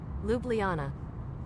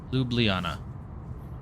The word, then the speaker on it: Ljubljana: How do you pronounce it? L-J-U-B. All? Ljubljana. Ljubljana. Ljubljana.